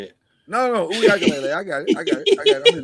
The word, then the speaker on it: Uiagalelei: No, Uiagalelei.